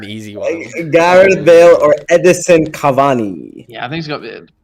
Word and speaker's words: Edinson Cavani: How's that pronunciation? It is, in fact, Edinson Cavani.